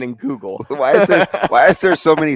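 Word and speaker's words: Leinenkugel: Why are there so many syllables? Well, it's Leinen Kugel.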